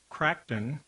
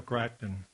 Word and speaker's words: Crichton: The novel, State of Fear by Michael, I believe it's pronounced Crichton, is footnoted with examples